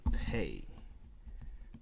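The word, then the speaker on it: פ: moving along would be the pay pay pay f as in food pay and there's two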